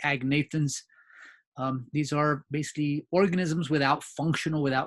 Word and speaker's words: agnathans: And if we put an A before, we have, and I pronounce the G, but I call them the agnathans.